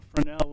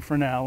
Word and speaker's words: Fresnel: And the Fresnel lens that we have now, it was invented by Augustin Fresnel, and that's why we don't pronounce the S, because he was French.